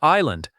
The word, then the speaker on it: island: The subtle here is also silent. It sounds like island.